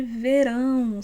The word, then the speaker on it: verão: C'est un son nasalé, mais qu'à la fin, on ferme la bouche.